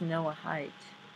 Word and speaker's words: Noahide: to say it but it is pronounced Noah height okay god bless everyone